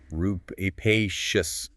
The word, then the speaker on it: rapacious: Yeah, it's pronunciation rupacious.